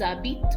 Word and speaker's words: habitent: an EZ, ils, elles habitent with an ENT. The ENT is not pronounced.